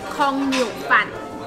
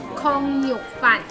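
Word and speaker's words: 控肉飯: 就是空牛饭，空牛饭，空是不是很好发？就是很类似，对不对？只是重音不同。饭也是，只有牛这个发音比较需要努力一下。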